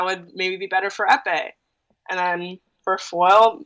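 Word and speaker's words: épée: The Epi and... How do you pronounce that? Epee and Saber.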